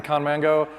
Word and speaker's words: Conmango: I don't know, I can't pronounce it, he can though. It's actually Conmango.